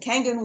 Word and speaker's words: Kangen: saying that properly how do I say it kangan kangan water is how I pronounce it it's a Japanese word means return